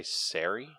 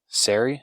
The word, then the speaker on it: Sari: it's did they pronounce how to say it s-a-r-i sorry yeah like I'm gonna say sarri sarri okay so Didi lives